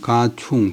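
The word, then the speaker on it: 賈充: 그때 이제 중호군 배설 이름데 중호군인 가충 가가 성이고 충이고요 가짜는 이제 본래는 안전 장사 고구 그다음에 사람 성이나 고민살 때는 발음을 가구 갑할 때도 바람을 가구 갑자 그래서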